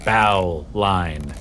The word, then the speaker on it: bowline: how to tie a bow line which anyone who works on the water knows that's how it's spelled but it's pronounced bowline because in sailing culture they always shorten things it's not a main